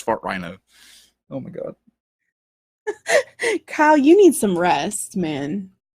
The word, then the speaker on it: Fart Rhino: I'm trying to pronounce this like Farthenia. It's just Fart Rhino.